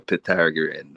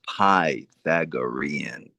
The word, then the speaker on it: Pythagorean: Yeah, that had me laughing every time you called it the Pythagoran, you know, Pythagorian. Yeah, I slaughter that But the real pronunciation of it is Pythagorean.